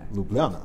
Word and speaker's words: Ljubljana: want a championship I'm going to try and pronounce this right with Olimpija Ljubljana Ljubljana Ljubljana good in 2016 so you have experience winning